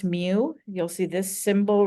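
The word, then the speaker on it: μ: there are so the population arithmetic mean is pronounce mu you'll see this symbol right here here it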